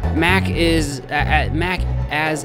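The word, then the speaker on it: Macca's: Mac as is how it's pronounced. Aussies just call it Mac as a slang.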